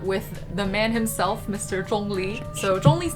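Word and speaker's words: Zhongli: first character right so starting with the zh sound it's kind of like a hard ch sound if you actually really sound like a z oh so if you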